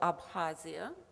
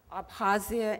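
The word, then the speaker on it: Abkhazia: about the people of abhasia just drop the k apazia and kabardinia it's these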